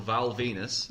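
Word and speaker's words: Val Venis: You say Rock, all I keep thinking of now is there was a storyline where this guy called Val Venus, because his name rhymes with penis, his finishing move was called the Money Shot.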